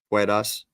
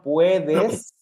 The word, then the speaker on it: puedes: tú, Puedas. a little bit pronunciation, puedes.